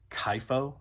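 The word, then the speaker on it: Chypho: I'm not sure but uh person goes by the moniker Kyo I believe is how you pronounce it. C H Y P H O I think that's Kyo.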